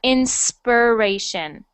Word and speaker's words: inspiration: So that is an I sound, so not inspiration, but inspiration. Actually, like an inspiration.